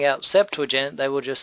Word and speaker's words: Septuagint: pronounce it there uh some people here pronounce it Septuagint but the correct way is septent um it's a Latin